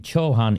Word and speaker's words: Chauhan: I think Chauhan is the way you pronounce his name, Mayor, but Dr.